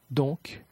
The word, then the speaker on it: donc: Cependant, la consonne finale est quelquefois prononcée. Déficit, déficit, cumul, cumul, sac, sac, donc, donc, amer, amer.